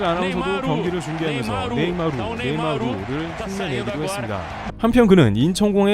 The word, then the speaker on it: 네이마르: 서울 코리아라는 메시지를 공유했으며 네이마르는 감사합니다 대한민국 트윗과 함께 네이마르는 글도 함께 적어 올렸습니다 브라질과 유럽 등에서는 네이마 정도만 발음하는데 한국에서는 르를 꼭 발음해 주는게 특이했다 봅니다 브라질 안하면서도 경기를 중계하면서 네이마 네이마르를 내기도 했습니다 한편 그는